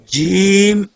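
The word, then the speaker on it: جيم: Jim pronounced as Jim, using middle of tongue to touching the middle part of palates.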